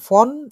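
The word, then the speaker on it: von: হচ্ছে জার্মানে বলে হচ্ছে ফন এবং বিস। ফন বিস, ফন এটা হচ্ছে বাংলায় লিখলে ফন, ফোনের না, ফন ডট ডট ডট বিস, ফন বিস।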